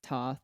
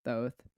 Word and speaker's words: Thoth: So the point of this of me sharing this is the entity that we channeled, it's Toth or Thoth, however you like to pronounce it.